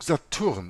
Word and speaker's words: Stur: Die Bezeichnung Saturn im Chaldäischen wird Satur ausgesprochen, besteht jedoch, wie jeder chaldäische Gelehrte weiß, aus nur vier Buchstaben, nämlich S-T-U-R, Stur.